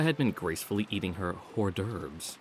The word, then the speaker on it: hors d'oeuvres: Erica had been gracefully eating her hors d'oeuvres, or hors d'oeuvres, the H is silent there, or the hors d'oeuvres, without showing any confusion over the line of utensils in front of her.